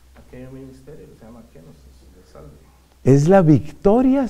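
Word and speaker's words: κένωσις: Eso se llama en griego, que se escribe con la letra K, kenosis. Kenosis.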